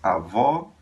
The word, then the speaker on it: avó: Avó, avô.